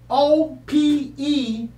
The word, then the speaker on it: Opechancanough: So if you look up Opechancanough, that's Opechancanough. That's the way the English spell it.